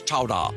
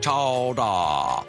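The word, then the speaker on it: chowder: England clam chowa today pronounced regionally as chowa chowa oh that's so fun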